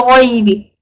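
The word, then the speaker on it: غيب: Bil ghaybi. Gha over here is from huruf tafkhim, right? So you need to make sure that you have a full mouth, inshallah, when you say it.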